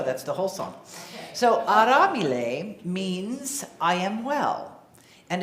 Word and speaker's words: aramile: Swahili and it's pronounced aramile with it's a r a well it's in your in your order of service a-r-a-m-i-l-e but the r is not an American R it's flipped so it's aramile you